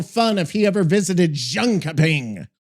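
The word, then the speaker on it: Jönköping: You're looking at Junka Ping, which is basically pronounced something like yarning. You got that little yarn sound at the start and then a soft ping at the end.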